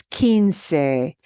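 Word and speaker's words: quince: is at q-u-i thing and it's Keen SE and q-u-i is key right so Keen SE foreign 15 oranges okay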